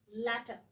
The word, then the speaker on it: latter: The other one is double up this T and you pronounce it as latter.